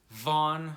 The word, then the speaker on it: Vaughn: to go with vaughn vaughn my strangely spelled welsh name that does not it is not spelled like it sounds it's a strange name